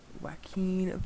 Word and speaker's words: Joaquin: Joaquin Phoenix, I think is how you pronounce it.